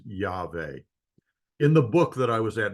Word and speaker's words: Yahweh: like to mention that I believe the proper pronunciation of the sacred name of God is Yahweh.